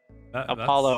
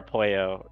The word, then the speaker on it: Apollo: Apollo or Apoyo are both fine pronunciation.